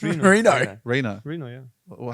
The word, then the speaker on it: Reno: That's Reno. Italian. It's Reno.